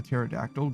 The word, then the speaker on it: pterodactyl: Mich Panda says, "Why can't you hear a pterodactyl go to the bathroom?" Because the P is silent.